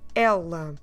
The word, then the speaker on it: ela: And the word for she is the word ela. Ela. You see the difference between these two? The word for he is more a closed vowel, so you don't open much your mouth, you do a il.